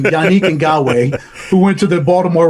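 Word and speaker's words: Yannick Ngakoue: don't think it's a surpris um I like yanii andwe that's how you pronounce his his name yanii and gawe who went to the Baltimore Ravens his name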